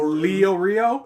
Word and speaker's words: Leorio: chains okay got it how does he pronounce leorio lee leo leo rio leo rio that's it that is it exactly comparing this to a